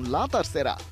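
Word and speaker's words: la tercera: জামিলের match রিপোর্টে বিস্তারিত Spanish ভাষায় শব্দটার উচ্চারণ লাতার সেরা অর্থ তৃতীয় বা তিন নম্বর লিওনেল মেসি কাতার বিশ্বকাপ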